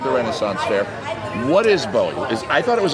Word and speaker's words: BOWI: to say it and then you correct my pronunciation. Don't tell me. I think it's Bowie.